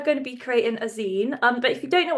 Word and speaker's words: zine: So a zine is pronounced like magazine, or it comes from the phrase fanzine.